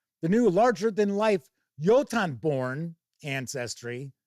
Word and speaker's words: Jotunborn: The new larger than life yotanborn ancestry. Hopefully that's how it's pronounced because that is how the word is pronounced. Yoton who knows maybe it's Jotunborn. I doubt it. I think it's yotenborn.